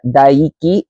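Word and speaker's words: Daiki: Um, Dyiki here, his name is uh, Diki. It's in English it's spelled D A I KI.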